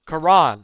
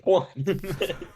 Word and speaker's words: Quran: Quran. Oh, Quran brother said the corn off corn.